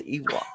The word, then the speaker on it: Ewok: It's Ewok.